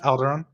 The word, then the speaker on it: Alderon: I've got Matt from Alderon. Am I saying it right? Alderon Games? Yeah, Alderon. So not the Star Wars planet, not to get confused.